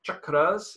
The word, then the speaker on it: cakras: And so cha actually is written as C-A, but it's pronounced as cha. So chakras is the actual word.